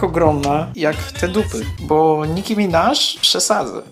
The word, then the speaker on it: Nicki Minaj: Bo Nicki Minaj przesadza. I tak, wymawia się Nicki Minaj, a nie Nicki Minaj.